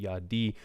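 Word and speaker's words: יָדִי: So you still pronounce it yadi. It still sounds like yad.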